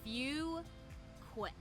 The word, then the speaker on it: Fuquay: They don't know how to say it, so it's Fuquay. Yeah, Fuquay. Yeah, Fuquay. It's not Fuquay or that's the most common one.